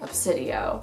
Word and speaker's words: Obsidio: how to pronounce gemini but this is definitely pronounced obsidio i am glad that bookoutlet was able to